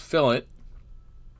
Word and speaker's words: fillet: spelled the same way at least as in autocad it's pronounced fill it no french here it rounds the edge